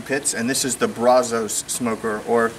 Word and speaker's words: Brazos: and this is the Brazos smoker or the correct Spanish pronunciation brasos after all it was